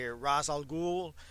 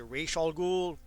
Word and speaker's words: Ra's al Ghul: It's a play of words that Denny O'Neil came up with when he created the character, Ra's al Ghul. As in, raising all the ghouls, an obvious reference to the Lazarus Pits.